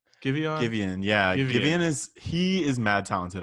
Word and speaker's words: Giveon: Giveon, yeah.